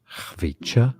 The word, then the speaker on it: Khvicha: In the original language, it sounds like Khvicha, Kvaratskhelia, Kvaratskhelia.